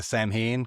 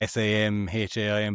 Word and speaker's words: Samhain: Like that comes from Samhain which like people sometimes will say Samhain cuz it's kind of spelled s a m h a i n but it's pronounced Samhain.